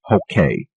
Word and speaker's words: Hokie: Substantially, yes, but lately we've taken to pronouncing it Hokay, though. The rhymester at my ad agency suggested it, to go along with their creative strategy.